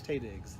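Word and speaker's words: Taye Diggs: Is that how Ty Diggs spells his name? Tay Diggs? Tay Diggs. There's an A in his name.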